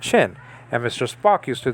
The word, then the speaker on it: shin: Hebrews, thousands of Hebrews, pronounce this not sheen but shin, and Mr.